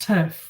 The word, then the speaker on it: TIRF: I guess I'm just making fun of everyone in the trans debate, because trans-inclusionary radical feminists, you shorten that, it's pronounced TERF, which sounds like, TIRF sounds like TERF, which is the more common phrase used in trans debates.